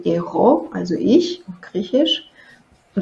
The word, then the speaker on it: εγώ: Wird eigentlich nicht Ego ausgesprochen, sondern εγώ.